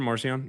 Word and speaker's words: Marcion: A placeholder for Marcion, yeah, most likely. Paul means the small one. Marcion is pronounced Marcion, means little Mark.